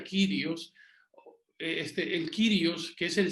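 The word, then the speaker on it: κύριος: Esa palabra Señor, aunque en nuestro mundo se utiliza de forma muy trivial, esa palabra en griego es kurios, se escribe kurios y se pronuncia kyrios.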